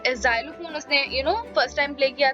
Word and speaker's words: xylophone: ठीक है, जाइलोफोन, ठीक है, इसे जाइलोफोन बोलते हैं, तो प्लीज इसे प्रोनाउंस करने में गलती मत कीजिएगा जैसे मैंने पहले करा। सो इट्स जाइलोफोन, ठीक है।